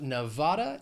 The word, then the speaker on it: Nevada: Next we have Nevada. It has three syllables, stress is on that second syllable. Nevada.